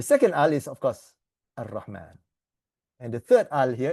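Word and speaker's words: الرَّحْمٰن: This goes into, so the alif lam, you don't pronounce the al, right? So you go Ar-Rahman. Oh, yeah. Okay, Ar-Rahman.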